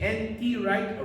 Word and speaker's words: N.T. Wright: Wright, say N.T. Wright. Wright is spelled W-R-I-G-H-T.